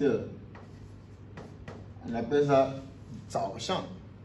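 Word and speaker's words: 早上: Et de 6 heures à 8 heures, on appelle ça Zao Shang. Zao Shang. Quatrième temps, troisième temps, quatrième temps, qui s'écrit comme ça.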